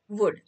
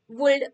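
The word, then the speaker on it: would: एल डी वुड हं या सगळ्या तिन्ही शब्दांमध्ये एल लेटर आहे पण ते सायलेंट आहे म्हणजेच आपण स्पेलिंग लिहिताना लेटर एल त्याच्यामध्ये आहे त्याच्यामध्ये लिहायचं पण जेव्हा आपण या शब्दांचा उच्चार करतो तेव्हा शुड कुल्ड वुल्ड असा करायचा नाही एल चा उच्चार करायचा नाही त्यामुळे एस एच ओ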